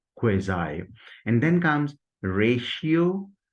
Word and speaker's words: quasi: And after Z sound, there comes I, occurs in dive, cry, and mind. Resultantly, we will pronounce it as quasi, quasi.